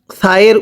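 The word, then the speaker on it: ث: বায়ের নিচে এক নক্তা, তায়ের উপরে দুই নক্তা, সায়ের উপরে তিন নক্তা, এই নক্তাগুলো দেখে আমাদেরকে চিনতে হবে। পড়ুন। আলিফ, বা, তা, সা, সাটা উচ্চারণ অনেকটাই নরম হবে।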